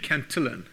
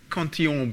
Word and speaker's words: Cantillon: Locke had said this years before, and Richard Cantillon, who people often pronounce Cantillon because he was working in France, he was actually Irish, had all come up with this idea beforehand.